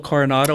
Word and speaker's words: Coronado: You went to a place down in Coronado, the Del Coronado.